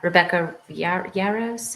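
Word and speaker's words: Rebecca Yarros: Rebecca Yaros, is that how you say her name?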